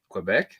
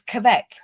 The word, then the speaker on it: Quebec: like there are two there are two proper ways of saying quebec right there's quebec and there's quebec right and he says